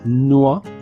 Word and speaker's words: noix: le son d'une voyelle, ici on dit noix. Donc, ois est le dernier son de la voyelle.